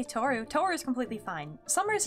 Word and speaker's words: Tohru: Toru, like this? My name has a random and unnecessary H in it, but yeah.